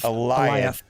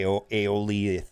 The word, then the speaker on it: Alioth: You corrected me on Alioth. this. Alioth. All right. I was going to say Aeolith or something, but Alioth.